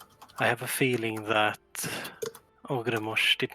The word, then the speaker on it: Ogremoch: Ogremosh. Okay. Ogremoch. If you're going for more of a Dutch pronunciation, all sort of mixed in with English.